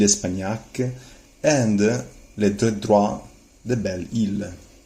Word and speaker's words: Belle-Isle: and les droits de Belle-Isle. Careful always on phonetics on not pronouncing the S.